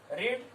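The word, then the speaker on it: read: अब वर्ब का third form, पढ़ने की अंग्रेजी, रीड रीड रेड रेड, spelling वही रहता है, उच्चारण अलग अलग होता है।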